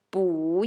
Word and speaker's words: 不: If we want to add 不 in front of 要 we should change the pronunciation of 不 Okay, so we say 不要了 Okay, very good